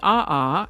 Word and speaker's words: aa: is actually a word all by itself it's pronounced Aha and it's a noun that means basaltic lava